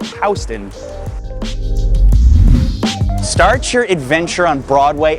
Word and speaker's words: Houston: They call it Soho because it's south of Houston Street, not Houston, pronounced Houston.